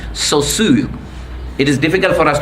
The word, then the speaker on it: Saussure: This is the name, it's a Swiss name, French name, Saussure.